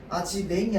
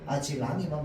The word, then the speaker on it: 아지랑이: 아직랭이 아니고 아직입니다. 아지랭이라고 발음하는 건 아지랑이를 이제 그 모음가를 역행 모음 역행동화라고 하는데 모음 역행동화가 일어난 형태이기 때문에 모음 역행동화는 우리가 표준 발음으로 인정 안 해 주거든요. 그래서 아직 랑이만 맞는 표현. 아직 랭이는 틀린 거.